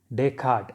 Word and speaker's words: Descartes: concept also in the next page about rene descartes so his name is pronounced as rane descarte so that yes is silent after r is silent